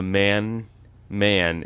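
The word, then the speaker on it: Mahon: believes that man the man man is the worst wrestler's nickname ever that i like explaining he's driving and explaining man m-a-h-o m-a-h-o-n but it's pronounced man man man-man the man every time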